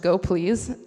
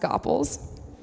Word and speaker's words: gopls: out after the talk and yes it is pronounced go please even though everyone thinks it's pronounced Koppel's so in general go please will be a